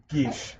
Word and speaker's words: Gish: I've been often curious about pronouncing Gish. Yes. Mm-hmm. It's described as like Sean Connery describing several large waterfowl. Yes. Yes. Gish.